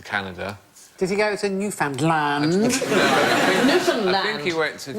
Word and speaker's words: Newfoundland: island called Newfoundland no it isn't a correct pronunciation Newfoundland pilots gonna show you yeah Newfoundland is the correct pronunciation and in 1876 a